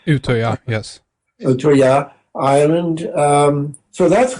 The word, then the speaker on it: Utøya: Utøya? Utøya, yes.